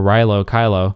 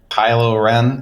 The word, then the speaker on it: Kylo Ren: Like, this was a 2.5 hour movie and we didn't get any real development of Rey or Rilo Kylo. Why? Kylo Ren. Can you not mispronounce the name?